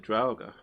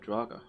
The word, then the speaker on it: draugr: single one of these also you pronounce it drauga i'm pretty sure it's supposed to be said draga like i thought it was